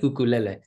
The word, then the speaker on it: ukulele: it the way it's supposed to be said ukulele jumping flea which came from how quick their fingers would move on the fretboard that's kind of the history yeah that's where it comes from jumping flea so ukulele flea jumping it comes from how fast the